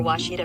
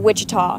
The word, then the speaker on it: Ouachita: Searching for Ouachita Baptist University. Back in Texas, everybody pronounces it Wichita, but really, it's Ouachita.